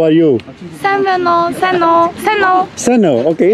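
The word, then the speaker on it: Сайн уу: Seno. Okay, it's easy. Seno.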